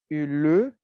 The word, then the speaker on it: le: Aprendendo, a gente pronuncia esse le, mas falando rápido, vira só o L mesmo.